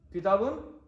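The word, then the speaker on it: كِتَابٌ: Kitab is how we're going to say, but remember what we said in the lesson. We're going to pronounce the bun bit correctly because we are learning at the moment. Once we becomes perfect, then we're not going to pronounce this anymore. Okay. But I want everyone to know the endings correctly.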